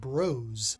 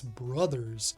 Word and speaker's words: Bros.: ago and 82% of you all said you pronounce it bros. Well, 82% of you are technically wrong. I mean, I don't really care, but the Japanese kadakana spellings of all of these titles would read as brothers.